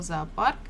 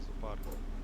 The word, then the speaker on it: зоопарк: Ударение на вторую О.